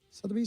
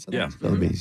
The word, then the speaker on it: Sotheby's: Sotheby's, is that how you say it? Sotheby's, yeah.